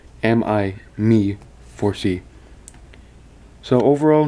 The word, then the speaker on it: Xiaomi: And yes, that's how you pronounce that. Xiaomi, Xiaomi Mi 4C.